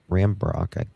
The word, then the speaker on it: Rambrock: As there was no initial refuting evidence, I advised SGT Rambrock, that's how you pronounce it, that it was possible